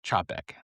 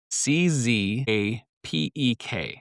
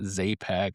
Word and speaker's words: Czapek: It starts it's it's spelled c z a p e k and the c z is Polish as in ch like in church. So, it's Czap and then ek. It's not Zaypec, it's not Sapec, it's not Chapec, it's Czap ek.